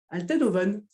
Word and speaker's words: Althenhoven: du coup aujourd'hui interviewer untel oven salut salut c'est bastien ça va écoute merci pour pour ton invitation et tu as très bien prononcé prononcer mon nom qui est extrêmement compliqué donc je me suis entraîné